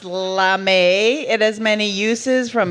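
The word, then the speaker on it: lamé: one is really long lame pronounced lamay it has many uses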